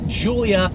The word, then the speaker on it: Giulia: offering from Alpha Romeo not called The Gua quatra Porte it is called the Julia quadrifolio quadrifolio actually means for